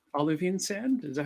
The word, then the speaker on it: olivine: Is it like olivine sand? Is that how you say it? Olivine, yeah. Like Olive with IN in the middle.